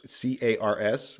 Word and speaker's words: cars: is a sneaky one we often think that plurals end with s but phonetically they end with Z like cars it's not cars c a RS multiple like a multiple of automobile it's not cars it's cars that s is actually a z sound your plurals plurals especially